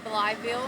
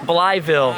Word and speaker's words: Blytheville: So, can you tell me about, is it Blytheville? Blytheville. Blytheville. Yeah, the TH is silent.